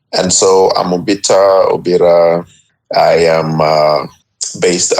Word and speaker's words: Obita: don't have a t we don't sound the T so the T gets replaced by an r and so if you had any law call me it would come out as obira but it's actually a